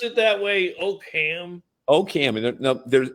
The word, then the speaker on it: Oakham: So you are on site in Oak right? No. Okam. There's a ham in oak. Do they really? Do they really pronounce it that way? Okam.